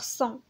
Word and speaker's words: sang: هنا عندنا S A N S كتنطق صون، هنا S A N G كتنطق صون، وهنا C E N T كتنطق صون، وهنا S E N S صون، وهنا S E N T صون.